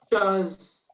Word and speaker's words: chaise: Okay, pronounce it like this. Chaise.